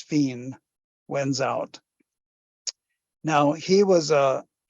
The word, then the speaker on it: Fine: Oronce, the first name, and Fine, F-I-N-E, a French name, sometimes written F-I-N-E with an accent mark over the E, which would be Fine.